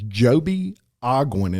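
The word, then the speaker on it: Joby Ogwyn: His name is Joby Ogwin, and it's spelled Ogwyn.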